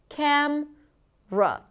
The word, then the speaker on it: camera: Camera has three syllables technically. The first syllable is the primary stress cam. Then we have awah m and then we have anotherwah r camera. However, the middle syllable is often delete it and then we reduce it to just camra.